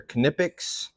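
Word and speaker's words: Knipex: they should get the job done these are knippics that's how you say it but they're just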